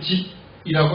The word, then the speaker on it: 십: 여기 십이라고 하는 것은 정확한 발음은 집이라고 하는 것이 맞고요.